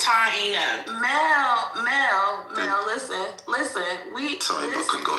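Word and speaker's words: Taíno: It's Taino.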